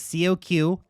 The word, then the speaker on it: Coq: let's be cultured here it's Coq like the chicken in French it's cultured all right